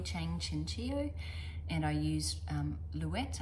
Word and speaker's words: Louet: This is the Versailles Shell by Connie Chang Chinchio, and I used Louette. I think it's pronounced Louette, even though I would have said Louet, but I've heard people say Louette.